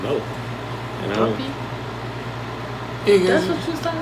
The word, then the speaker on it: Duppy: not Guppy. I thought it was You guppy. said Guppy. I was like looking at you like, what is that? I was It's Duppy. Oh, Duppy. Yes.